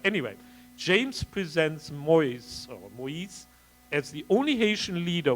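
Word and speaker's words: Moïse: two dots s e I guess the pronunciation in fact would be Moise not Mo right no but then it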